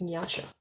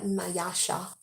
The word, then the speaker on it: Nyasha: how you say it my name is nyasha it's not nayasha it's not me yasha